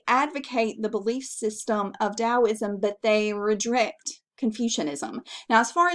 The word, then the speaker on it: Taoism: There was another belief system which I mentioned earlier, which is Taoism. Now, I know this starts with a T, but it's pronounced with a D.